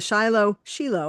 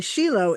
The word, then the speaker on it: Shiloh: She is the um vice president of the Shiloh Shilo. I I'm just realizing that I've been pronouncing it wrong. the Sheilo Israel Children's Fund and